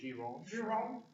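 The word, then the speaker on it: Gironde: It's French. So it'd be Giron.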